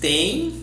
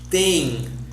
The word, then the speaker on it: têm: And the plural, pay attention, that is the same pronunciation as the singular. Vocês têm and eles têm.